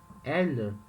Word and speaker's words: elles: Repara que a pronúncia elles é igual no plural e é igual no singular.